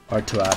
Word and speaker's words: Artaud: How to pronounce Artuad.